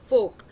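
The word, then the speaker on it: Volk: दास फोक कुछ नहीं है, देखो ये हम जर्मनी में ना, आपको बता दूं कि वी को ना फ बोला जाता है, the pronunciation of वी इज F over है, तो दास फोक यूज किया गया।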